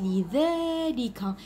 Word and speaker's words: لذلك: عندنا كذلك اللي بعدها الكلمه لذلك، لاحظوا معايا قلت لذلك، لكن لهنا عمرنا لنديرو الالف، علاش؟ لانها تنطق لكن لا تكتب.